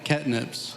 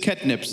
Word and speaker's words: Ketnipz: name of can you please say how to pronounce it so that I wouldn't butcher it yeah catnips just catnips yeah cnips Kip okay so cnips has three